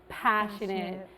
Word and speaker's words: passionate: English for example with the multi- syllable words like passionate we put an emphasis on the first one passionate all right I'm zoie